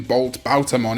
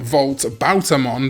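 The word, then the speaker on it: Voltobautamon: It should never have been Bolt Bautamon, it should have been Volt Bautamon the whole time.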